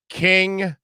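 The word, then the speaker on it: Kyng: seen them in concert king is ken k-y-n-k k-y-n-g is the way that king is spelled and they're really if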